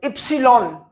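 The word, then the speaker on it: Ypsilon: Epsilon, Y sounds like E, epsilon.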